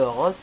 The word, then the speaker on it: Rose: super joueur qui s'appelle rose donc ça s'écrit comme rose mais ça se prononce pas pareil donc équipe de Chicago